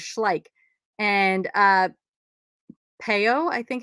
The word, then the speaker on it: Schleich: on the bottom and i always thought this was pronounced schlei but it's actually schleich um so that's how you say it i don't know why i thought it was chlae but i did and that's i confidently would say that as well and somebody's like you're saying that wrong i'm like okay so that's one that i remember now is schleich and uh peo i